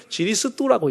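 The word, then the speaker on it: 基利斯督: 기리사독이라고 써놓고 읽기는 지리스두라고 읽어. 붙지만 예수 지리스두라고 되는 거예요.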